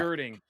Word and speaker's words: Gerding: So, Hey, I pronounced the name right? oh, you Alan? nailed it, Alan Okay. Gerding.